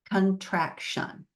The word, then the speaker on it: contraction: And then remember that last syllable, that irregular syllable, it's pronounced shun. Very good. So let's read the whole word, contraction.